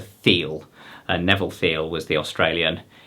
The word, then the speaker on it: Thiel: So this is, he was calling it a, well, he was pronouncing it differently, but it's a Thiel.